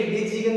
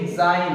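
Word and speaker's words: design: इसका मतलब यहाँ पर जी है और इसको हम ऐसे वर्ड पढ़ेंगे डिजीगन, ऐसे नहीं होता है। ये जो जी है वो साइलेंट है, इसको हम पढ़ेंगे डिजाइन।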